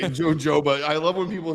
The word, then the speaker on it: jojoba: hoba or or no he says Joba that's just wrong it's h hoba is the pronunciation right jojoba I love when people